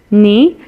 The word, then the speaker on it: knee: So the silent word is knee and the letter is K, right?